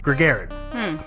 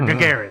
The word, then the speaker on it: Gagarin: better than than Yuri for Garrett or Gagarin excuse me mispronounced his name according to the theory